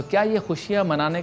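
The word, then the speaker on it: خوشی: बढ़ाते बिस्मिल्लाह रहमान रहीम खुशी बेसिकली फारसी जबान का लफ्ज है जिसमें वाव जो है वो साइलेंट है लिखने में तो आता है पढ़ने में नहीं आता अरबी में फरहद कहा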